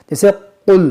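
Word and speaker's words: قُل: देखो, यह 'क़ाफ़' बिंदीदार 'क़ाफ़' है। यह हुरूफ-ए-मुस्तलिया है। इसका उच्चारण गाढ़ा और कोमल होना चाहिए। 'कुल' की तरह, लेकिन लोग क्या पढ़ते हैं?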